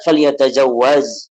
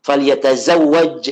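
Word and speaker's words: فليتزوج: Ya kata Nabi, ya ma'syar syabab, man istata'a minkumul ba'at falyatazawwaz. Wahai falyatazawwaj ya, falyatazawwaj itu bacanya. Jangan keliru zai dengan jim, zai dulu baru jim.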